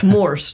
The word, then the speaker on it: Morse: Morse, like Morse code. Lovely. Diddy, diddy, diddy, something like that. Put that in your mind. Rhymes with horse.